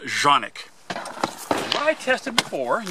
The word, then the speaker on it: Canik: Now I know, to all of us, that looks like Canik, but it's pronounced Canik.